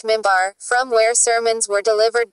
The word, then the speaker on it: minbar: qibla, and a pulpit, minbar, pronounced mimbar, from where sermons were delivered during noon prayers on Friday.